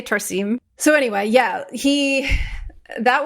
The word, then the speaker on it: Tarsem: By the way, I've heard his name pronounced Tarsen, but also I heard him say Tarsim.